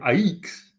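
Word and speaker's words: AIEX: So we need to start pronouncing him Aikes. Aikes.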